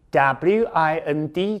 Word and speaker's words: wind: twine T-W-I-N-E 这个单字很好记就是双胞胎的 twin 后面再加个 e 念成 twine亦或是嘿嘿 ,W-I-N-D, 注意它的发音哦。老师这个字我知道它当名词叫做风对当风的时候念成 wind, 当动词的时候念成 wind, 所以 twist 可以指扭伤或者东西缠绕在什么上面我在手上缠那个绷带这个缠绕你也可以用 twist 这个字这是